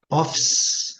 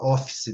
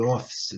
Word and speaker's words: office: A gente erra demais, porque a gente fala office, né? Home office, né? Mas a pronúncia, eu já falei com vocês, é bem clássica. É office. Office. Office. Certo? Esquece desse E aqui, ó.